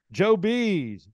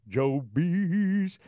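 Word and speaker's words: Joebees: them to order it Joe bees Joe bees uh it's spelled just like it sounds j-o-e-b-e-e-s and Joe B's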